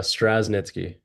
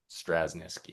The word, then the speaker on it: Straschnitzki: It's Straschnitzki. Straschnitzki, yeah.